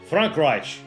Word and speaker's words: Frankreich: Frankreich. There's a very subtle, like, sh sound at the end. That's also, it's like a sh and a ch.